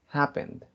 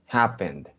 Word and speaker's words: happened: En realidad esa es la pronunciación de esa palabra. Happened. Y escuchen que suena en D. Happened. Se escucha la D cuando dice happened.